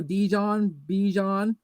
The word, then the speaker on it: Bijan: They're like think Dijon mustard, and there you go, Bijan Robinson.